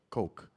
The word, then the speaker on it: Coke: Is it Coke or Coke? Coke. Spelled like Coke.